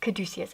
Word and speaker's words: Caduceus: Gosh, Caduceus.